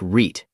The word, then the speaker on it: REIT: Say it like REIT.